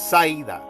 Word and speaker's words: Zaida: Viene en el caso de la parte femenina del nombre ya masculino Said. En este caso se pronunciaría para ellos más Zaida.